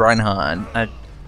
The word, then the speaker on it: Reinhardt: Is it Reinhardt or Reinhardt? Reinhardt. Pronounce it how you don't expect it to be. Basically, German 101.